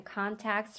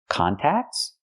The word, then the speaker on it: contexts: So, not contacts, but contexts. We say in contexts. Use the short S sound like bed and red.